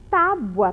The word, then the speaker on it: tábua: E tem um acento lá, vocês estão vendo? É, porque é a sílaba mais forte, é tábua. Então, A vem antes de R. Eu coloco, então, a palavrinha tábua primeiro e depois a palavrinha travessa.